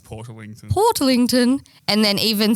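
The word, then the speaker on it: Portarlington: way no you got to get to like Port Arling or ocean grave before I'm like you're outside jalong it's pronounced Port lington Port lington and then even still like if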